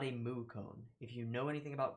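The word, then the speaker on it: koan: they're called Zen combs koa n cone or con you can pronounce it in a number of ways it's cone though as far as I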